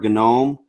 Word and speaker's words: GNOME: just chat about uh gnome or gnome whichever way you prefer to pronounce it and then we'll talk